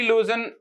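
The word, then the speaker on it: lose: इसका पास्ट और एक होता है LOSC, यहां पे एस प्रोनाउंस होता है जेड की तरह, लूज।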